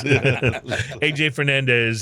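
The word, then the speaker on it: A.J. Fernandez: Does it rhyme with Hey Jay? Yeah, it rhymes with Hey Jay Fernandez. Hey Jay Fernandez, who is a longtime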